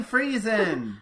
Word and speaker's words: Friesen: let me make sure I'm pronouncing this right. Ray Fryzone? I think it's Fryzone. I think it's Fryzone. It's Ray Friesen!